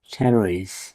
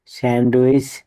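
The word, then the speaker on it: sandwich: ডি লেডারডি silent থাকবে এস এ এন ডি ডাবলিউ আই সি এইচ সানউইচ এখানে ডি লেডারডি silent থাকবে স্যান্ডউইচ ভুল শব্দ ডাবলিউ ই ডি জিই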